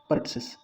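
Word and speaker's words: pertussis: तो सही आंसर हो जाएगा पर्टसिस। पर्टुसिस जो है पी का सही उच्चारण होता है डीपीटी में।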